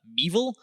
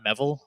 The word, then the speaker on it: MEVil: coin this term called meil um that is how you pronounce it meil not meville I don't know why everyone decided it's meville it's meil it's evil um and it's just